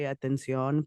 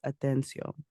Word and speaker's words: Atencio: And the reason that I fumbled on that is because I automatically want to say Atención, but it's Atencio.